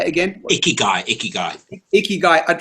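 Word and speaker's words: ikigai: iaii what do how do you say again icky guy icky guy icky guy I'd like us to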